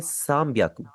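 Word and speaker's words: 三百: 300 को आप बोलेंगे सामियाकू। साम ब्याकू ये जैपनीज का एक रूल होता है।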